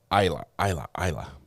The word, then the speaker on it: Isla: How do you say the first one again? Isla. I said it wrong. Isla. We might have to spell it like EYE space LA for me to remember.